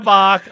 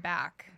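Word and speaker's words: Bakk: And then there's Hail Bach on all social media. B-A-K-K, not B-A-C-H, and it's pronounced Bach, not back.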